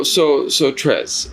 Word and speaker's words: Trezs: Scene, and so I understand having your name butchered, man. I can imagine. Yeah, so Trezz, it is.